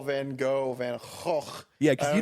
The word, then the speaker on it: Van Gogh: How do you pronounce Van Gogh? It's Van Gogh.